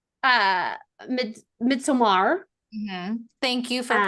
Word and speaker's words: Midsommar: So much like uh Midsommar. Thank you for Uh, pronouncing it correctly. I do yeah, appreciate it. Midsommar.